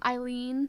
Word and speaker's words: Aileen: It's Eileen, but it's spelled Aileen. Conway.